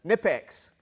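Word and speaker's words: Knipex: good odds are good nitpicks silent k quality giveaways from the toolshed you think all the letters got together and decided which ones were going to be silent i was wondering about that it's kinipex things that keep eddie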